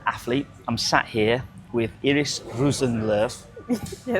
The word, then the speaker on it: Iiris Rosenlöf: I'm sat here with Iris Rusenv. Yes. Um, perfect pronunciation that was, by the way.